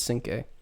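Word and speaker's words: Cinqué: His name looks like 5 plus a U and an E at the end, but 5 is in French.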